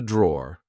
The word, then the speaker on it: drawer: This is a drawer, like I said. Be careful. Because in British English, we don't pronounce the E at the end. We just say draw.